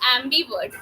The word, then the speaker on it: ambivert: That is ambivert. A M को कैसे pronounce करेंगे? Am. am. You said na. So ambivert.